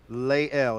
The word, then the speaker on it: Lael: Lael. It's like you lay down and you take an L. So it is Lael.